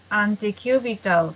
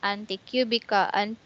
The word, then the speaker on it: antecubital: Wrap the cuff around the upper arm with the cuff's lower edge, 1 inch above the antecubital fossa. And anticubical Antecubital anticubital.